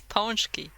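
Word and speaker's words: pączki: It's Ponchki.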